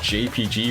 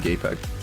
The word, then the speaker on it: JPG: Well, do you think it's pronounced JPG or JPEG? No, I think it's actually JPEG. Oh, you're right. Yeah. Like, Yeah, just like Jeff.